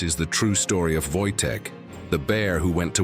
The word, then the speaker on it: Wojtek: They named him Voytech, pronounced Voytech, meaning joyful warrior.